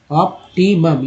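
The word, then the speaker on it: optimum: अब देखिए उसके बाद सर्टेन के बाद है ऑप्टिमम, ऑप्टिमम, यू का उच्चारण आ के रूप में हो तो ऑप्टिमम amounts, amounts of these, यहाँ इसका उच्चारण ज के रूप में हुआ इसेंशियल, ई सेन, सेन।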